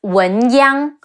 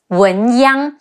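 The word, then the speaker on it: 文鸯: Now, a very impressive general we have to mention is Wen Chu, better known as Wen Yang, Wu En Wen, Yi Ang Yang, Wen Yang.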